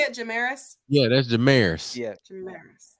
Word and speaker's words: Jamaris: How you say it, Jamaris?